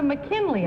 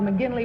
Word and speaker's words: McGinley: It was Frank Lloyd Wright, and number 2 said Father McKinley, I thought, and didn't pronounce it quite right, and I thought number 3 said Father McGinley, which is correct.